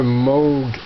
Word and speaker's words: Moog: It's pronounced Moog.